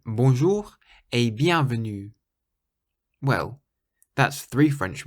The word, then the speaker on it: bonjour: French words is that you always stress the very last syllable of the word in French so you say bon bon rather than bonjour the J in French is quite soft and the letter r